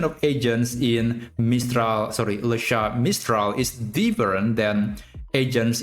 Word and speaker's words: Le Chat: And yes, I pronounce the name of the product to be Lasha because this is a French company. And apparently the correct way to pronounce Lat is actually Lasha.